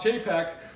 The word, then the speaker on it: Chapek: Bob Chapek, who is the president or vice president.